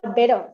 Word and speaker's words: better: But if it is weak syllable, then you can change the T into D sound. Okay, butter. Butter is the best example, I think. Butter, butter. Or better, better, better.